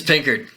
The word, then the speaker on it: Pickard: It's Pickard, right? It's Pickard. Yeah, all right. I was like, how do you pronounce that last name? It's a weird one, dude. You're Pickard? definitely Like, Pickard, Captain Pickard.